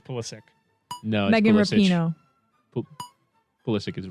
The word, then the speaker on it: Pulisic: soccer player christian pulisic i love it it's pulisic no megan ballistic is wrong jordan pickford he wants to pronounce police weston mckinney he's politics right it's